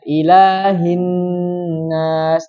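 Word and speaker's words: إله الناس: Kemudian berikutnya menghilangkan tasdid. Dia bacanya yang harusnya dibaca ilahin nas, tapi dia bacanya ilahinas. Tuh. Bentuknya apa?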